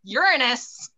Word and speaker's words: Uranus: Giggle now, because I'm not going to pronounce it the other way. Uranus, all right?